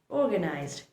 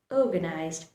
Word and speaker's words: organized: Well, this one should be pronounced like organized. You should put pressure on the vowel O. The R should be lightly pronounced. Again, watch how my mouth moves. Organized, organized, organized, organized.